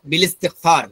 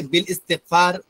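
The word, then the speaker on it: بالاستغفار: বলতে হবে বিল ইস্তিগফার, বিল ইস্তিহসান, মূলত উচ্চারণ এভাবে। কিন্তু আমরা এই ব্যবহারটা না জানার কারণে আমরা বলি বিল ইস্তিগফার, বিল ইস্তিহসান, এভাবে পড়ে ফেলি। এটা ঠিক নয়।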